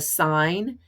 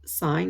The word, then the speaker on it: sine: moving on to this one we want the sine and this is pronounced sine not sin of angle W which is this